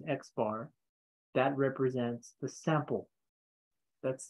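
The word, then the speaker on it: x̄: with a line on top of it that's pronounced x bar that represents the sample that's the sample mean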